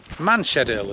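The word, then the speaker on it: Manshead: cuz for years um we called it maned manshed Hill and manshed end and it's spelled m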